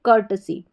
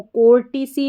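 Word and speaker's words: courtesy: में बोला जाता है कर्टसी। कर्टसी तो इसको कोर्टिसी नहीं पढ़ेंगे। कर्टसी पढ़ेंगे। यहां पर सी ओ यू आर टी ई को कर्ट करके पढ़ा जा रहा है। और एस वाई को सी कर्टसी।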